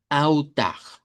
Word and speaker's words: altar: La palabra en español es altar, pero en portugués la L se convierte en una U corta o una W, dependiendo de cómo lo querramos pronunciar. Y con R uvular al final.